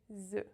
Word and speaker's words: œufs: In the plural you have the closed E and the F is silent. E. Un œuf, des œufs. Un œuf, des œufs.